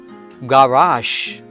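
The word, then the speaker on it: garage: അതിൻ്റെ ഉച്ചാരണം in British English it ഈസ് ഗവാഷ് ഗവാഷ് ഗവാഷ് last G ഇ വരുന്നത് ഷ് എന്നുള്ള ശബ്ദമായിരിക്കും ഉണ്ടാവുക ഇംഗ്ലീഷിൽ അധികവും അങ്ങനെയായിരിക്കും in British English it is pronounced as ഗവാഷ് in American English it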